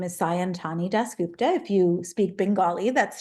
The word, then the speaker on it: Sayantani Dasgupta: become a writer sure um my name is santani dupta if you speak Bengali that's shy is how you would pronounce it I um came to children's writing